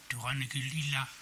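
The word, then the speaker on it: Turangalîla: Es una partitura ciclópea, ya decimos, que responde al nombre de Sinfonía Turangalila, que es una palabra sánscrita que hay que pronunciarla más o menos algo así como Turangalila, algo así, que son 3 raíces,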